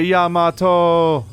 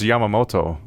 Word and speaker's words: Yamamoto: The Yamato... Oh, it's Yamamoto. There's an extra syllable.